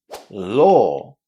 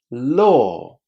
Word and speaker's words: law: Law. Law. Can you hear the difference? Low is pronounced with the O sound.